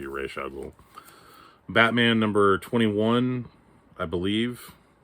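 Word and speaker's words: Ra's al Ghul: origin of raza ghoul or reisha ghoul however you choose to pronounce it i've always said raza ghoul i think it's technically supposed to be reshuggle batman number 21 i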